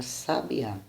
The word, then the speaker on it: sabiá: a b ea sabia se fizemos cair o assento na primeira sílaba teremos a palavra sábia ou seja teremos um legislativo se na segunda sabia a segunda sílaba teremos um fim na terceira o último a palavra sabiá então a fonética das